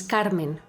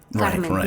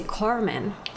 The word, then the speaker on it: Carmen: like my my name I say my name is Carmen Carmen the Spanish way right how I know my name to be pronounced sure and and Americans will say Carmen which is does